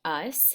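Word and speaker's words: -ous: This suffix is pronounced us, and it's kind of a tricky meaning, has those qualities.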